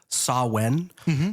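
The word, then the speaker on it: Samhain: Halloween, such as the festival of Sawen, uh which is spelled Sam Hayne for anyone who's uh reading this podcast.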